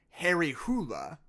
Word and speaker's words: Harry Hole: And the Norwegian pronunciation of that name would be Harry Hula, which not only doesn't